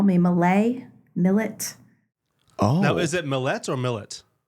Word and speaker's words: Millett: And I'm like, oh, it's Millet.